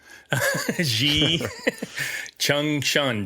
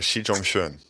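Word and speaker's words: Xi Zhongxun: but I did practice Xi Chong Shun. Did Did I say it right? You were 99% there. Xi Jong Shun. Dang it. She like uh like like um like the pronoun Jung.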